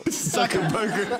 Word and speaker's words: Zuckerberg: I said the main name wrong, Zuckerberg or whatever. Zuckerberg.